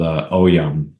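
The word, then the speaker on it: Ogham: But there is an ancient Gaelic dialect called Oyam, is how you pronounce it.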